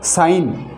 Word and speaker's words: sign: ऐसे जैसे देखो साइन, SIGN, ये देखो एन से पहले जी आ रहा है तो साइन, चिन्ह।